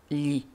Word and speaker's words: gli: Le pluriel de lo est gli, G-L-I, G-L-I, qui se prononce li.